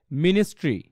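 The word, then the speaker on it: ministry: কি হবে হিস্ট্রি হিস্ট্রি similarly এটা কি হবে মিনিস্ট্রি মিনিস্ট্রি ঠিক আছে দাটা আমরা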